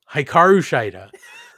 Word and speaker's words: Hikaru Shida: It's Britt Baker, DMD, and I'm sorry, I never know how to pronounce this name. I see it so infrequently. Hikaru Nailed it. Shida? Crushed it. Perfect. Hikaru Shida versus the Outcasts, Ruby Soho and Toni Storm.